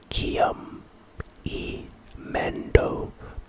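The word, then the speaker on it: Brackium Emendo: up Sensational the next spell is brachio IMO pronunciation bra Braum IMO Braum IMO this is our first spell type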